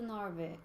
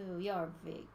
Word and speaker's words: Jorvik: Well, I would go to Norvik, to Jorvik.